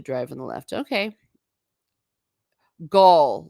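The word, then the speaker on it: Gaol: Gaul, like the German tribe. Okay, Gaul. So Kimim Gaul. But basically jail. Interesting. Archer Cullen says, "I pronounce the same as jail myself. Is it a Gaelic word?" Oh, well, yeah, it is an Irish word and an old pronunciation. Okay, that's what I thought. But we would call it in vernacular by jail.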